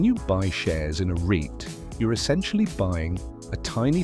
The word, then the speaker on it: REIT: That's the power of a REIT, pronounced REIT.